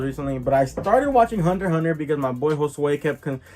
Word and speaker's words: Hunter x Hunter: a little observant uh it is the hunter hunter collection hunter hunter not hunter x hunter well i mean i